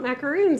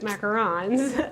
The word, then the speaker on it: macarons: say it wrong um I've always said it's not it's not macaroon not macaroons as macarons um they had their